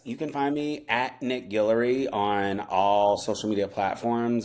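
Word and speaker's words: Guillory: Um, so yes, you can find me Nick Gillery on all social media platforms and my last name is spelled G U I L L O R Y.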